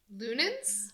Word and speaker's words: Leunens: do you say your last name Amber Lun lunin lunin sure Christine lunin um and on that note um Amber yes